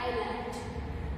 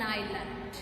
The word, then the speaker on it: island: sides is called an island. So pronunciation is island. I-S-L-A-N-D. So it is pronounced as island. S is silent here. So read it like island.